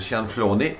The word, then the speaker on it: Cianflone: vous êtes de Montréal monsieur Sian flunet c'est la façon dont on va prononcer votre nom avant on vous app